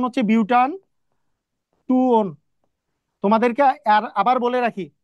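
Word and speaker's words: butan-2-one: দুই নাম্বারে ওন আছে কারণ ও এনই তাহলে বিউট টু own sorry বিউটান টু ওন এটার সঠিক উচ্চারণ হচ্ছে বিউটান টু ওন তোমাদেরকে আর আবার বলে রাখি এইটা যদি কেউ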